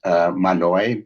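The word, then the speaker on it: Mahanoy: The court just decided a case called, it's actually pronounced Manoy, but it looks like Mahoney.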